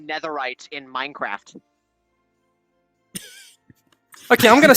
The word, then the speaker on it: netherite: They mispronounced netherite in Minecraft.